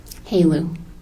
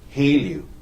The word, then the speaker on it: helu: Halo. Halo. What is in your line of work? What is Halu? Halo is high assay, lowenriched uranium.